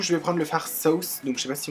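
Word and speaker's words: Sauced: Donc du coup je vais prendre le fard Sauce, donc je sais pas si on dit Sauce 7, normalement on prononce pas le ED, donc normalement c'est Sauce.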